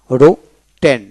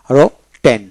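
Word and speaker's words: written: অর্জন করা এটেন তারপরে রটন রটন আর রকার হবে রটন তারপরে রিটন রিটন আমরা রিটেন বলি উচ্চারণটা রিটন উচ্চারণটা এবং ডিকশন রিটন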